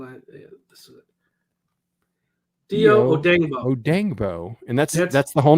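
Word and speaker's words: Dayo Odeyingbo: Dio Odengbo. Yep, that's how it's said.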